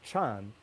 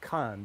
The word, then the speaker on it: kan: It's with that ka, it's signaling that you should pronounce that glyph not chan, but kan, because we're representing this dialect, not the dialect of the South and the Highlands and the West.